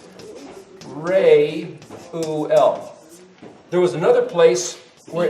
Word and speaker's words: Reuel: Reuel was one. Say that again. Reuel. See, hear what she's saying? Reuel. Yeah. Reuel. So this is what I think she's saying. Reuel.